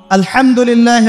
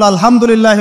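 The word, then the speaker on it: الحمد لله: আলহামদুলিল্লাহ ভালো আছি তো আলহামদুলিল্লাহ না বলে সে বলেছে আলহামদুলিল্লাহ উচ্চারণ পরিবর্তন হয়ে গেছে এই কারণে অর্থ পরিবর্তন হয়ে দাঁড়াবে যে সমস্ত নিন্দা আল্লাহর জন্যে যিনি জগৎসমূহের রব আমার কথা কি বুঝতে পারছেন শুধু হা এর মাখরাজ ভুল হওয়ার কারণে এই সমস্যা হলো তাই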